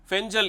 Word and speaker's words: Fengal: எல் என்று அழைக்கப்படக்கூடிய அந்த எழுத்தை அவர்கள் உச்சரிக்கும் போது பெஞ்சல் என்று உச்சரிக்கிறார்கள் இந்த புயலினுடைய தாக்கம் தமிழ்நாட்டிற்கு எப்படி இருக்கப்போகிறது குறிப்பாக